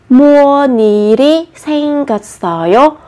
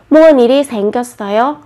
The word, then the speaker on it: 무슨 일이 생겼어요: Khi phát âm thì các bạn chú ý nối bắt chim lên nhé. 무슨 일이 생겼어요. 무슨 일이 생겼어요.